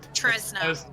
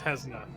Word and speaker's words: Tesna: Tresna. Tresna. It's Tesna. Tesna. Basically, Tesla. I don't know where the R came from.